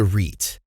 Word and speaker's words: REIT: buy real estate investment trusts reits what is a reit reit rhymes with sweet stands for real estate